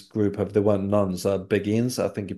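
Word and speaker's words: Beguines: nuns they were called beIN they of yeah they hopefully I'm pronouncing that right I believe it's I believe it's just like we would say begin um but it's spelled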